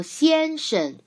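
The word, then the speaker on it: 先生: 先生先生 Look, 生 has the second syllable has no tone. We learned this called neutral tone in phonetics part. Remember? So 先生 Look at the example word.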